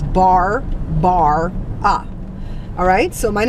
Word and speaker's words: Barbara: Barbara VAR ba re I always say my name like that because a lot of people think I'm Barbra but there's a bunch of aids in my name is bar bar ah alright so my name